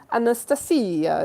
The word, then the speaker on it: Anastasia: Anastasia is here. That is actually how you pronounce my name.